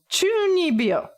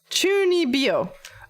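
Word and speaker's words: 中二病: Fuck, does anybody know how to pronounce it? Maybe this one? Chunibyo. There, that's close. Chunibyo.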